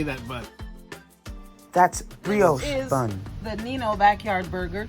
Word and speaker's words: brioche: That's brioche bun.